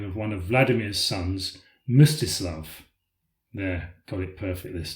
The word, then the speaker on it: Mstislav: baptism, and finally stumbled badly when trying to pronounce the name of one of Vladimir's sons, Mstislav.